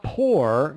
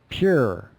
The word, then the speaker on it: pure: it's pure pure but it's not poor you know that that's definitely wrong and some people just go into the sound and they say pure pure and maybe that's easier to pronounce and that's very common to and very much accepted and North American dialect pure it's pure or it's